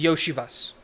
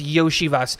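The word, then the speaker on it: Iosivas: no no it's just yoshivas yo yoshivas yes the L is a y for some reason and so it's yoshivas think Yoshi and then Vas that's it so um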